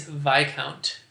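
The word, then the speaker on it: viscount: just above a bearing with a name that contains a silent s and that rank is vi count round one question number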